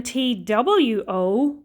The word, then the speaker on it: two: the final one then t w o with the silent w in the middle means the number two